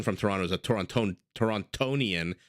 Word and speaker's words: Torontonian: Toronto is a Toronto torontonian you do pronounce that second D anyway any no no